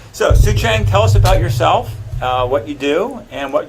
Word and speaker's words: Soucheng: in just so I know this is some sooth Chang yeah and sapota it's a bother well thank you for correcting my bad pronunciation so soo-chang tell us about yourself what you do and